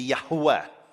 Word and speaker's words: Yahweh: So if you want to do it correctly, and let's remember this is a scholarly reconstruction, it would be Yahweh, Yahweh.